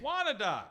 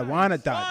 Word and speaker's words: Wyandotte: Well, on March 16th, I'll be in lovely, I'm not sure how to pronounce this, Wyandotte, Michigan. Wyandotte. Yeah, Wyandotte.